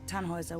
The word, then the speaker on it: Tannhäuser: We'd pronounce it Tannhäuser with an umlaut.